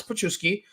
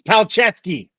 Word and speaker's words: Palczewski: Because with Alex Pachuski, you see we have a good right tackle. Palczewski. We're talking about pronouncing names right. It's Palczewski. Palczewski. Thank you.